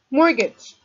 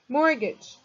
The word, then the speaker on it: mortgage: up with the technology mortgage mortgage mortgage the t is silent it's a noun a